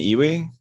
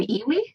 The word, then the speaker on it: EWI: Have you ever played an iwi? A what? An iwi? I think I'm saying it wrong, or iwi, like iwi. It's like EWI.